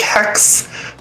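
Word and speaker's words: hecks: PayPal got me slash h-e-c-k-s like hex but it's spelled with more letters because that's how it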